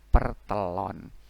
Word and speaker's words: pertelon: Tak dikasih bendera pepet jadi te, lun, lam ketemu wau dan nun, pertelun, tapi dibacanya pertelon.